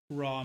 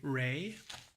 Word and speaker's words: Ra: A lot of academics don't say Ra anymore. They say Ray.